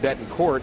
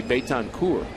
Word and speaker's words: Betancourt: And he actually told him that if you pronounce it Betancourt, that's an insult to my family ancestry, and for what that means in my village that I came from. It's really Betancourt.